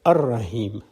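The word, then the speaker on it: الرحيم: Similarly, when you add Al to Rahim, the Al-Rahim is pronounced as Ar-Rahim. The L goes silent.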